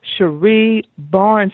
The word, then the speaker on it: Cherie Barnes: She is Cherie Barnes. Did I pronounce that correctly?